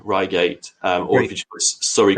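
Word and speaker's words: Reigate: but if you if you Google um uh Ryate crop circle 2016, you'll you'll see what I'm talking about. How do we spell that? Oh, um R E I G A T Ryate.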